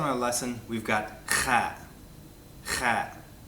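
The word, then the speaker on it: خ: Kha is not so hard to pronounce as the ha. It shouldn't take so long for you to figure out. If you speak any German, it'll sound very familiar to you.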